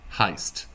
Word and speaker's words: heißt: Because this letter is called a sharp S. It is an S sound in itself. You don't really pronounce it any different than a normal S.